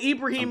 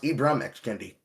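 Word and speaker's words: Ibram X. Kendi: Oh, Ibrahim by the way. Oh, Ibrahim Kendi.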